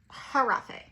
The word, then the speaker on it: Giraffe: It is Christian here and Harafe. Okay, we've done some videos without her in there. She has an attitude. So you will see the golden giraffe. You'll see the golden giraffe pronounced Harafe in the video, okay?